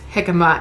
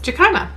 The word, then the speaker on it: jicama: so my family knows i used to pronounce jicama as jakama because that's how it's spelt don't make fun of